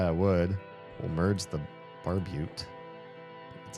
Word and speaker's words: barbute: We'll merge the barbute. That's how you pronounce it.